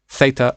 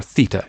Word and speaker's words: theta: So this is theta or theta. You can hear it pronounced both ways, and it's just a name for an angle.